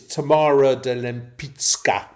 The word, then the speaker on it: Tamara de Lempicka: And that is Tamara de Lempicka. Note my pronunciation. Okay. It's Polish pronunciation.